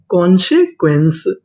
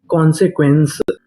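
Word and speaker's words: consequence: ई इसे पढ़ेंगे सा अगर आपको आखिरी में इ लिखा मिले तो हम लोग इ का उच्चारण नहीं करते इस से पहले तक का उच्चारण करते हैं तो पूरी मीनिंग क्या बनी कॉन्सक्वेंस कॉन्सक्वेंस कॉन्सक्वेंस का मतलब होता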